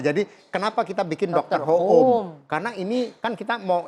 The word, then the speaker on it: Hoom: Tapi kalau kita bikin dokter ho e eh e home yang bahasa Inggris orang bacanya dokter home. Nah, jadi enggak nyambung kan. Nah, gimana supaya orang kita bacanya dokter home. Nah, ya ini home gitu.